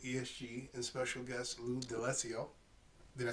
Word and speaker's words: D'Alessio: You've been watching The Real Tea with ESG and special guest Lou D'Alessio.